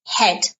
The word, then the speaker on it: head: Yes, this is head. Pronunciation. Notice you don't pronounce the A. It's shh, silent.